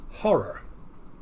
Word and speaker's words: Horror: again, instead of the what pronouncing the O the way Americans do, if you pronounce it the way the British do, it comes out as horror. Almost like HAW, the Crimson Horror.